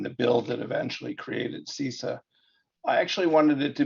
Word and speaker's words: CISA: love you man but it's pronounced sisa got it I'm gonna